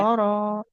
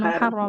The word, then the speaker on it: محررا: Muharrara. Oh, Jangan muharram.